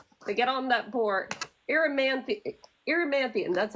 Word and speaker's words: Erymanthian: And so this is after the kids get on, was it the Eurynthian boar? Am I remembering that right? They get on that board, Erymanthian, that's how it's said.